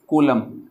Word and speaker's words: Coulomb: मैंने स्पेलिंग शायद गलत लिख दी, COULOMB, कूलम, यह है चार्ज की यूनिट जो कैपिटल सी से डिनोट की जाती है।